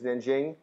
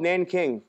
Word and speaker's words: Nanjing: It's spelled with a J. It's Nanjing. Military invades China. They get to this city called Nanking.